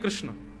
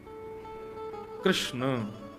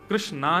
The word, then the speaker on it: कृष्ण: है बुद्धि एकाग्र नहीं कृष्ण कृष्णा नहीं कृष्ण ठाकुर जी का नाम